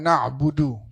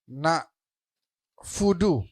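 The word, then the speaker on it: نَعْبُدُ: Misalnya kita enggak boleh baca misalnya iyaka na'budu kita bacanya iyaka misalnya na fudu pakai fa na mudu pakai mim boleh hurufnya harus dijaga satu persatu hurufnya harus dipelajarin dari mulai bismillahirrahmanirrahim sampai akhir.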